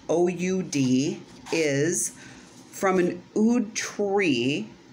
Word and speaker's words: oud: it is basically an ood oil so an ood uh which is pronounced oud is from an ud